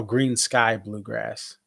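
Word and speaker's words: Greensky Bluegrass: Oh, Green Sky Bluegrass, Green Sky. That's how you pronounce it.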